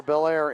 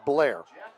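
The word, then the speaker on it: Bellaire: They've got a 12 to nothing lead over Belair in the first quarter. I said that wrong. It's Blair Blair. Uh Mike Snively tells me you have to say that in one syllable.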